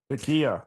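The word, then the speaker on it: taqiyya: Is that how it's pronounced, Skep? Yeah. Takia.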